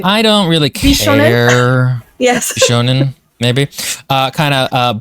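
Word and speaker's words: bishōnen: Yes, he is very creepy and weird looking, and he very much falls into that Bishinuen kind of... I feel like it's not pronounced that way. I don't really care. Bishonen?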